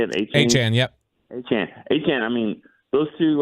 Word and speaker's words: Achane: Achane, yep.